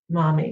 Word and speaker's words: Mami: Mami. And on my, I know it's spelled differently. It's not mommy like MOMMY. The Latin version of mommy.